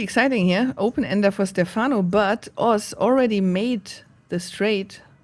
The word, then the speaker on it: Stefano: Because he's Italian, you don't say Stefano, you say Stefano. Right? Isn't that the The annunciation on the first syllable.